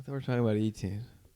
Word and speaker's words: Etienne: And also lost Travis Etienne, another first or Achain, who he to he Did y'all see that video? He said my last name is pronounced Achain. No, he literally said my last name is pronounced Achain.